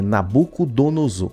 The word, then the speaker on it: Nabucodonosor: É Nabucodonosor. Eles errou novamente. E ele vai repetir novamente, olha só. Nabucodonosor, Olha só.